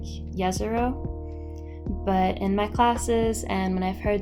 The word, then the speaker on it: Jezero: I know that saying Jezero with the J sound is like an anglicized pronunciation. I think it's supposed to sound more like Yezero.